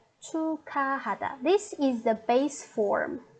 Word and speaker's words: 축하하다: So we put this part and this part together, and we should change the pronunciation a little bit into k, ka. So it's 축하하다.